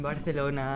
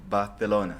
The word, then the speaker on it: Barcelona: for the people listening it's called Barcelona not Barcelona right Barcelona balona Bona yeah now I can